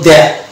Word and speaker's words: the: এক্ষেত্রে আমরা দিক এখানে টি এইচ ই কে উচ্চারণ করবো দ্যা অর্থাৎ এটা দি ম্যান বললে ভুল হয়ে যাবে